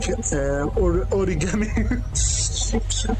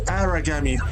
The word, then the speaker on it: Aragami: When I first heard about this game, since the poor pronunciating, I thought it's written like origami. No, it's Aragami, not origami.